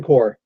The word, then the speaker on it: Corps: Green Lantern one on the P is silent oh hell yeah umm it's a Marine Corps Corps at the mid-atlantic